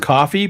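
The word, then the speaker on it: Ko-fi: Well, it is pronounced coffee.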